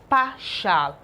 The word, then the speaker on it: partial: Okay, now from the pronunciation, this is partial, but there is always t here to complement this, and this put together is partial, but the t right here is usually silent.